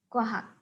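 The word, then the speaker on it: 과학: Ini dibaca kwa, dan yang ini dibaca hak. Kuahak. Kita tuliskan lagi ya. Ini giok, kemudian wa, dibaca kwa, kemudian ada huruf hit, vokal A, dan giok. Dibaca hak. Bacanya adalah kuahak.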